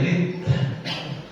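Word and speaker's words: ردة: Faslun fi riddah, bacanya riddah.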